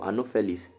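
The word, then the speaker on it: Anopheles: malaria under the vector right female anophilles mosquito anoplis a n o p h e l e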